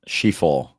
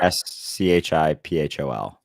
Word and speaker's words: Schiphol: Is me not being able to fucking pronounce, is it Nafol? I think it's something like that. Anyway, the point is, yes. Schiphol. Thank you. Schiphol.